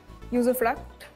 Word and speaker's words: usufruct: Usufruct. Am I pronouncing it correctly?